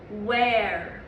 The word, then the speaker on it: where: practice writing tricky word where well done and when we write tricky word where at the end there's a silent e silently we can't hear it but we have to write it so the letters we